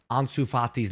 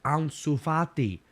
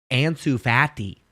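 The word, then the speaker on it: Ansu Fati: okay American goalkeeping Legend how dare you not know how to pronounce ansufati it's easy there's a there was a gentleman right next to you the whole game pronouncing it correctly and you just ignorantly kept pronouncing it ansu fatty my dude that Casey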